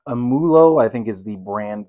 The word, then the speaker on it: Amoolo: that is produced by I believe it's pronounced amulo I think is the